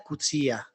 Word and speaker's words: Coetzee: Todo el mundo, o gran parte, al mencionar Coetzee, hay una multiplicidad de formas de pronunciarlo. Yo creo que es la que se ha castellanizado, Coetzee, pero he oído Coetzee. Creo que la forma correcta es Cutzía.